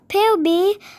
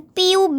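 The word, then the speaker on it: Phoebe: Jadi babysitternya itu namanya POB, bukan PUB ya teman-teman, tapi PHEOBE, POB. Kayak gitu bacanya, oke? POB.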